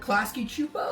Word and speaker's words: Klasky Csupo: Klasky Csupo.